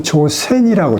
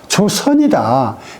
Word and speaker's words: 조선: 거기에 킹덤 오브 조센이라고 되어 있습니다.